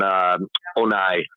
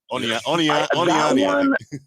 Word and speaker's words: Oniani: wrong is Oleg and Onai. I think I get his name wrong a little bit, but Kelly Onai. Oniani. Right. That's it.